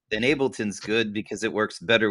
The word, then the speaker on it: Ableton: How do you spell it? Ableton.